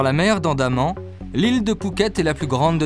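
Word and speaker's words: Phuket: paradis des plongeurs Pouquet en deux syllabes tout est dit dans la mer d'Andaman l'île de pouket est la plus grande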